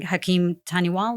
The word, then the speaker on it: Hakim Taniwal: was under your control, where you were working, Hakim Taniwal, is that how you say his name?